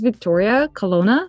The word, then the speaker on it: Vittoria Colonna: Her name is Vittoria Colonna. Do I pronounce it correctly?